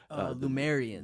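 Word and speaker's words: Lemurians: Is it pronounced Luminaire? Lumerians. Yeah, Lumerians. Thank you.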